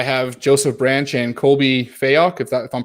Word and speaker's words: Fayock: I have Joseph Branch and Colby Fayok, if I'm pronouncing that right.